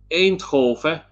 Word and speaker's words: Eindhoven: Nijmegen and Eindhoven were, because this is the proper way of pronouncing these words in Netherlands, Eindhoven and Arnhem and Nijmegen. Nijmegen.